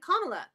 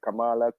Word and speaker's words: Kamala: are definitely into black magic they all supported kamla or camela my bad don't crucify me I said her name wrong oh my God oh my God I